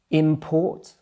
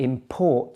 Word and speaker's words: import: So the stress there is on the second syllable. Let's look at another example. Import and import.